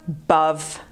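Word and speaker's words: above: powiedzieć że jest barw i znowu akcent pada na drugą sylabę dlatego mówimy buff buff i co w taki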